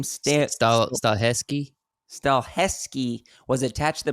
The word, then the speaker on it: Stahelski: So the John Wick director, the director for John Wick, Chad, how do you pronounce that last name? Stahelski.